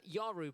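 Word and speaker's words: Yawuru: Uh Yaru, by the way, isn't spelled as it sounds. So if you wanted to jot it down, it is Y A W U R U. So it's spelled Yuru. Uh but it's spelled it said Yaru.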